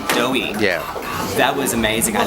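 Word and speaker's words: Doii: Doughy. Doughy.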